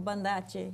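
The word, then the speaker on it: Banda Aceh: Y se escribe Banda AC con H al final. Generalmente en indonesio la C se pronuncia como CH.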